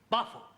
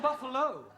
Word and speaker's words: buffalo: a big bull oh Buffalo teril confused yeah words that um endino like Buffalo or radio or vertigo you pronounce the O but when there is no o you don't add one understand yes I give